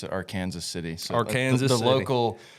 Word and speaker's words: Arkansas City: Yep, Arkansas City, but we pronounce it Arkansas City.